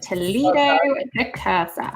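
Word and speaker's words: Toledo de Kerser: Yes, it is Toledo de Cursa.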